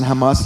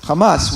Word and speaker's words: Hamas: pronounceable word tanak well Hamas would not be pronounceable if you didn't put those A's in there so now it becomes Hamas so the false idea